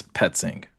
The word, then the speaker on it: Petzing: It's PetSync, right? That's how it's pronounced.